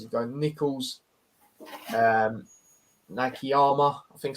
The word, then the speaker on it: Nakayama: Says he'd go Nichols, Nakayama. I think I said his name right. Did I say his name right? Yeah, Nakayama, yeah.